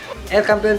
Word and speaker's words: El Campeon: And then El Campeon, ay aliw naman, El Campeon Pigeon Feeds, yun ang tamang pronunciation mga kalapatids.